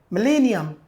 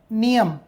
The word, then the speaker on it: millennium: Millennium. Right? Millennium. Millennium. This is pronunciation melee. Meleium the pronunciation is millennium.